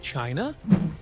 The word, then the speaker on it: Qin: Their name was pronounced chin and that sound made its way west through trade with India, Persia and eventually Europe.